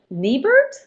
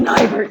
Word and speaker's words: Nibert: University of Illinois, Urbana-Champaign, and Niebert. Nibert. It is Nibert.